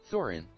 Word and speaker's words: Thorin: You know, the book was written in English. So it's gonna be pronounced Thorin. Hold on. It's just that German doesn't have that sound in the language.